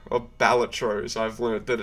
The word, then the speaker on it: Balatro: I read that as Balatro, or Balatro, as I've learned that it's pronounced.